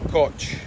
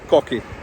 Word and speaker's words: Koch: This place here, if I was reading that, I would say coch, but they pronounce it here cock, cocky, which is a bit of a rude word in English.